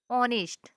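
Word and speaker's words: honest: दिखाई दे रहा है ऑनेस्ट ऑनेस्ट है तो यहां पर हमारा एच क्या चीज है साइलेंट है और ओ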